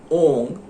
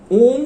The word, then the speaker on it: ॐ: तो लक्ष्मी का एक बीज मंत्र है ओम ह्रीं श्रीं लक्ष्मी भ्यो नमः। ध्यान दीजिएगा, यहां मैं जब उच्चारण कर रहा हूं तो ओंग उच्चारण कर रहा हूं, ओम उच्चारण नहीं कर रहा हूं।